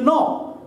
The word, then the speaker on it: know: For example, no, K-N-O-W, no. K is silent.